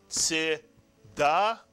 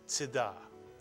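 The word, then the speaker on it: צדקה: And I don't care if you read it Tzedakah, or if you read it a little bit more correctly, Tzedakah. The shva pronounced is always like a grace note, not a quarter note. So that it's not Tzedakah, but it's Tzedakah.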